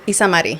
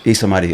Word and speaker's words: Isamari: So it's Isamari. Isamari. Okay.